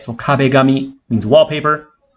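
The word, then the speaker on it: 壁紙: but we have to be careful with the pronunciation so we don't say cob a commie the cop becomes got right so cob a gummy means wallpaper like on your wall and one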